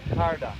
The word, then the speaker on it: ਕੜਾ: ਸੋ ਉਸ ਦੇ ਨਾਲ ਨਾਲ ਜਿਹੜਾ ਇਹ ਦੂਸਰਾ ਕੜਾ ਪਾਰਕ ਦੇ ਜਿਹੜੇ ਇਸ ਪਾਸੇ ਜਿਹੜਾ ਆ ਉਹ ਵੀ ਬਣਾਇਆ ਗਿਆ ਹੈਗਾ ਆ। The pronunciation of this is Kada? ਕੜਾ, Karda. ਕੜਾ, Karla. ਕੜਾ, Karda. ਕੜਾ, Karda. like this.